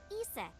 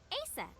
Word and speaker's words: Isis: Horus's mom is named Isis. But in ancient Egyptian, it's pronounced closer to Ise or Asa.